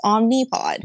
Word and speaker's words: Omnipod: And I'm always like, maybe I am saying it wrong. But then I look at it and I'm like, no, it's got an I. It's spelled with an I. So it's Omnipod.